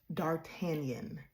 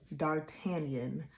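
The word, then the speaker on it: d'Artagnan: It is pronounced Dartanian. Dartanian. Dartanian.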